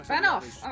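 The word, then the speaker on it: Fanow: Well, Alma Fanoff. Okay, it's pronounced with a V at the end.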